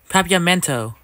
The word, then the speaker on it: Papiamento: You're studying Papianto? Interesting. Papiamento. Oops, I said it wrong. Papiamento.